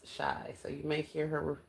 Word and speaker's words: Shai: Twin party of five's name is Shai. S hi. The comment right above yours. That's how you spell it. But twin is shy.